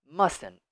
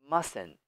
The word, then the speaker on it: mustn't: really this is incorrect writing but it is pronounced this way mustn't mustn't mustn't know T so just just remove it